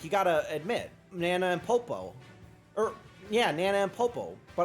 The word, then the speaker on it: Popo: It's Popo. Okay, so Poo-Poo. Okay, well, I was close, Medic. You gotta admit. Nana and Popo.